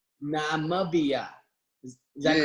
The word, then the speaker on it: Namibia: How do you pronounce it? Namibia. Namibia.